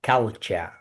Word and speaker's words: culture: That is the you know when we have TU the pronunciation is cha culture.